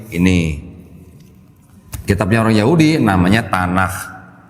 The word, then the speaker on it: Tanakh: Kitabnya orang Yahudi namanya Tanakh. Bacanya harus sedikit beda nih Bu, bukan tanah, tanah.